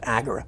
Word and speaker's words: agora: idea of an Agora well it's pronounced agura agura I'm sorry yeah I don't